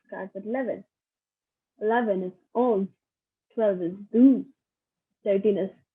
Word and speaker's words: onze: 11 is onze, 12 is douze, 13 is treize, 14 is